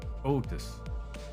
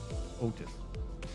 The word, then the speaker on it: Otis: oh it's like a it's like a long o Otis Otis oh please your generosity